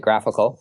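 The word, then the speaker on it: GraphiQL: which is you know graph iql we pronounce it graphical and it's a tool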